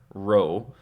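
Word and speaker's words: ρῶ: sounds like a p row this makes an R sound it looks like a p uppercase and lowercase p it looks like a p but it's not it's an R row uh Sigma actually has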